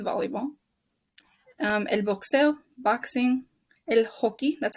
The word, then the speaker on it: hockey: El hockey, that's how you pronounce it. The J makes the H sound.